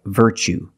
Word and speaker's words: virtue: word what's the pronunciation you see t-u-e as the second syllable so the t is pronounced like chicken so what's the pronunciation that's right virtue what is a virtue